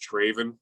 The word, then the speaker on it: Travin: man let's go foreign so many people butchered my name but it's actually pronounced traven it's Craven damn it